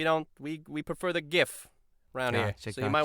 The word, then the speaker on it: GIF: sick it should be it should be GIF you know he is hard and solid the Our